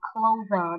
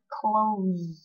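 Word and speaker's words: clothes: Thông thường các bạn hay đọc là clover đúng không? Tuy nhiên cách đọc chính xác của nó phải là close.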